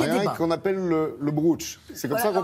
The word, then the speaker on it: Brocciu: Alors il y a des qu'on appelle le brooch. C'est comme ça qu'on prononce. Alors on peut dire le brooch ou le bruccio, mais c'est compliqué parce qu'il y a un